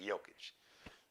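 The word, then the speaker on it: Jokić: Big Jokic, even though it's spelled with a J.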